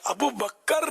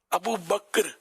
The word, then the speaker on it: ابو بکر: بھی عرض کیا تھا، ابو بکر نہیں ہے تلفظ، کہ بچے سارا ابو بکر بول رہے تھے تو یہ پچھلا ہی تھا نا شاید۔ ابو بکر کاف جو ہے نا ساکن ہے، ابو بکر حضرت ابو بکر صدیق